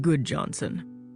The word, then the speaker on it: Gudjonsen: My name is Goodjohnson, spelled Gudjonsen, but pronounced Goodjohnson.